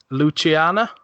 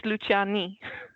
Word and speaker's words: Luciani: Luciana? No, No. it's Luciani. Luciani. Okay. Yeah, Luciana is feminine. Right. So Luciano is the masculine, Luciani is sort of the neutral.